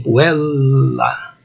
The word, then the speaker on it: puella: Esse sinal em forma de barra, aí, que o dicionário pode indicar, indica a vogal longa, mais demorada. Então a pronúncia seria assim, puella.